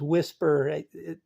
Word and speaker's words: WSPR: Chapter 9 is whisper. It's spelled wrong. There's no I in there. It's WSPR.